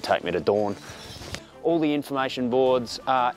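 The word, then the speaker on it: Doorn: So this is the Kaapse Bossen loop from Dawn. Dawn as in Game of Thrones Dawn. I know it's Dawn because that's the way the taxi driver pronounced it, even though I'm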